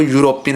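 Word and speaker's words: European: एन नहीं आएगा, क्योंकि जब हम इसको प्रोनाउंसिएशन करते हैं तो यूरोपियन बोला जाता है, यूरोपियन, ठीक है। अब यो किसकी साउंड देता है? यो देता है बाई की साउंड, ठीक है।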